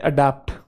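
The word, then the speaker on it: adapt: इसको बोलते हैं अडैप्ट, ये है अडॉप्ट, और ये है एडिप्ट, ठीक है। अडैप्ट, अडॉप्ट, एडिप्ट।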